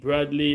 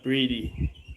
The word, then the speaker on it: Brady: So am I pronouncing it Bradley or Brady? Brady. Okay, it should be Brady.